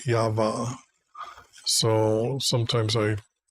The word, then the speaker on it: Yahweh: Or if you pronounce it in Hebrew, I believe it's Yavah.